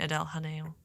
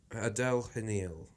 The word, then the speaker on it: Adèle Haenel: I don't know how you pronounce it. Oh, no, you mean Adele Hanil. Adele Hanil.